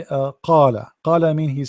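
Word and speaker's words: قال: you meant qala, but this is not correct, because qala, when you are say ka, you are pronouncing letter ka, which is here, this one. You get my point? So you have to work in this letter here. This is a qa, qa, the same as a chicken when it's make a sound, qa qa qa qa qa qa qa, not ka.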